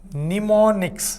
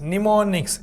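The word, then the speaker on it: mnemonics: चलिए आगे बढ़ते हैं करेक्टली स्पेलिंग होता है निमोनिक्स निमोनिक्स एम साइलेंट होता है बेटा इसमें और निमोनिक्स का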